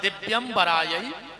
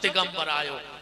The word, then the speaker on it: दिव्यंबरायै: शुद्ध उच्चारण है दिव्यंबरायै च दिगंबरायो, और आदमी जल्दी जल्दी में बोलत है दिगंबरायै च दिगंबरायो, दोनों बार दिगंबर दिगंबर कहता है।